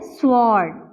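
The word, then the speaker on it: sword: pronounce किया जाता है स्वोर्ड स्वोर्ड तो यहां पर ब्लू हमारे पास क्या है दिस इस एक्चुअली साइलेंट ठीक है यहां पे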